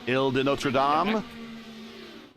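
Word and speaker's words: Île Notre-Dame: your French Gary that was a pretty good pronunciation of the track we're visiting next week ill de notam correct not too bad it's the island of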